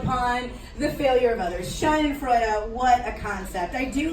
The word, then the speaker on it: Schadenfreude: They have this language, or they have this word in the German language pronounced Schadenfreude. Schadenfreude is 4 syllables of a word to